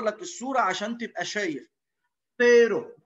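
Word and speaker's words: cero: فيرو حرف الفي، في ما ينفعش اقول سيرو وسيرو، بطلع طرف لساني.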